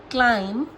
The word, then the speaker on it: climb: Bomb, climb, calm, crumb, debt, lamb, doubt, lamb, limb, subtle. Got it? समझे? M के बाद में और T से पहले तो बी जो होता है वो साइलेंट हो जाता है।